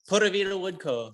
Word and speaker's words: Puravida Wood Co.: Am I pronouncing it right? Puravida Wood Co.